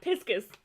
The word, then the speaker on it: Pisces: do you know how Japanese people pronounce the word Pisces? Piscus. Yeah, Piscus.